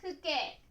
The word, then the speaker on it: 父兄: Comme exemple d'utilisation de « kei », il faut dessiner le mot « 父兄 » et le lire comme « fu kei », signifiant parents et frères aînés.